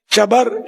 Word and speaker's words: شبر: رائج شبر اور شبیر، اعلیٰ حضرت نے اس کا تلفظ یہ بیان کیا، شبر، شبیر، مشبر۔